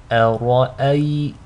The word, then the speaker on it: أرأيت: So to recite this correctly, make sure the hamza is light, the ra is heavy, and the second hamza is light. أرأيت.